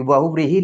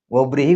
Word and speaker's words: बहुव्रीहि: कई बार हम लोग हिंदी में व को ब भी बोल देते हैं। बोलने में, उच्चारण में तो ब, व का कई बार अंतर नहीं हो पाता है, लेकिन लिखने में आपको ध्यान रखना है।